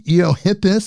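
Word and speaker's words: Eohippus: I know that there's the Eiohippus, if I I hopefully I pronounced that right.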